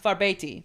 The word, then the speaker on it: Farbauti: Farbeti, I believe is how you say it. Like I said, it looks like Farbauti, like because it has like a U in it, but the pronunciation was Farbeti.